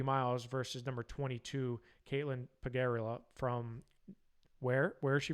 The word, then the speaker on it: Pegorella: Pegorella, that's right. I thought I had that pronunciation down pretty well.